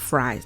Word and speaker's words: Fry: Y'all say it's pronounced Fries, not I don't know why when I look at it, it's like I want to pronounce it Frey. I don't know why, but it's Fries.